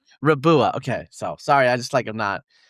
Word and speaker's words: Riboua: Raboua. Rabua.